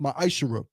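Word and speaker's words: מעשר: Means 10th in Hebrew is pronounced ma'ashara.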